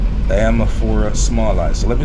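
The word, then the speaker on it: Diamorpha smallii: So the red plant I'm telling you about is the Diamaphora smallei. Diamaphora smallei. So let me spell that so you can get it.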